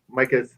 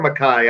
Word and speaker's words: Micah: And he's Micah's. Is it Micah or Mackay? I've heard different pronunciations. I think it's Mackay. Mackay Shrewsbury.